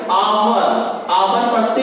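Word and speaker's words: hour: आवर, आवर पढ़ते हैं, हावर नहीं पढ़ेंगे इसको, आवर पढ़ेंगे तो ओ निकल रहा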